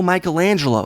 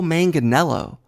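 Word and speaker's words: Manganiello: number two Joe manganelo Natasha called him Joe Michelangelo it's Joe manganelo manganelo friend of Josh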